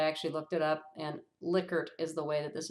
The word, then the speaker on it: Likert: You've probably heard this pronounced Likert, but I actually looked it up, and Likert is the way that this is pronounced, and that measures the intensity of feeling.